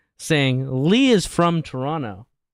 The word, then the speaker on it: Toronto: they don't they say Toronto they don't say Toronto and pronounce the last T everybody up to the